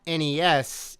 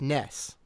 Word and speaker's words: NES: blew up and uh it's not NES it's Ness apparently according to one of the one of the kind of screens in that game they spell out phonetically Nessa right that's any NSU